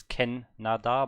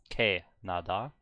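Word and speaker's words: 캐나다: Okay, so I kinda botched the first syllable of Ken. I thought it's Ken Nada, but it's K Nada.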